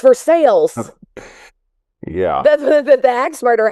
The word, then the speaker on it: Versailles: Well, I know a fella that travels every day from El Dorado Springs to Versailles. But it's Versailles. Yeah. That's the axe murder house. Versailles, Versailles, if you're talking about Louis, this palace